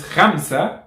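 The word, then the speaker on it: خمسة: However, khalas, since you're learning how to pronounce correctly, it's not ka, it's kha. So for example, the name of this channel is Khamsa Ma'a Ramadan.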